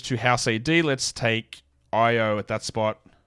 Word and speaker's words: Io: Let's take Io at that spot. It's so annoying that his name is not pronounced Ao.